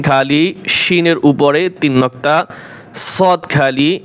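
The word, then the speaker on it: شين: শিন, শিন এটা হচ্ছে সি, আর হচ্ছে শি।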